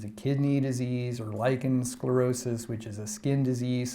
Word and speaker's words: sclerosis: English word again but sclerosis in Greek is spelled with an SK and it means hardening or stiffening in Greek and there's